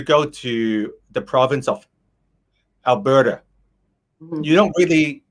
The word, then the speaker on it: Alberta: We actually still say the T, but we make it softer, like a D. Very soft, yeah. Like a D. It's actually pronounced like a D. Alberta, not Alberta.